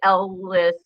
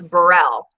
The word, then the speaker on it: Burrell: because i almost said what i almost said was judge garland ellis but it's burrell see it's funny like